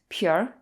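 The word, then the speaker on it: 皮儿: lot of nouns and the art often merges into the preceding syllable as in this case it becomes pure pure means skin in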